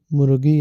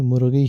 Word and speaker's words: مرغی: درست تلفظ مرغی نہیں، مرغی ہے، اور یہ غلط نہیں ہوتا، غلط ہوتا ہے، غین سے غلط۔ مگر پھپھو، اس سے فرق کیا پڑتا ہے؟